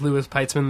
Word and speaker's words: Louis Peitzman: find me on twitter uh my name is lewis pietzmann there which is my real name okay i can spell it it's i t l-o-u-i-s-p-e-i-t-z m a n